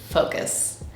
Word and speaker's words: focus: The first vowel is O. It's a round O sound. So the first syllable is faux.